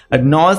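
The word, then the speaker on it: gnaws: আছে বা রুক্ষ সেরকম নজ এখানে জি এর কিন্তু প্রোনাউন্স হবে না ঠিক আছে জি এন এ ডবএস এটা নস হবে নস মানে হচ্ছে বাইটস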